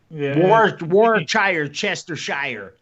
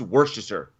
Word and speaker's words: Worcestershire: bad it's worse than your sauce what's this chester shire i've i've heard uh wha where chestershire i've heard that uh worcestershire sauce it's worcestershire worcestershire sauce okay it's [